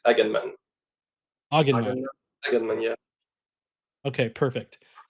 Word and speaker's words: Aganman: Do you want to say it for us, just in case I've been mispronouncing it the entire time? It's Aganman.